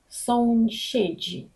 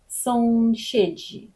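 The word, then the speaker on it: sąsiedzi: Соншеджі дуже добре слово для тренування вашої вимови. Сошеджі. Подивіться, нагадую вам. Оносови читаємо вніс. S та і дають нам звук ш. Z та і дають нам ж. Отже, маємо соншеджі.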